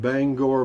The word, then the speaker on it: Bangor: You pronounced Bangor, Maine right.